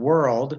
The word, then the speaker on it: world: You're combining them into the sound of Yeah, the O-R in world is pronounced like just like E-R, like teacher.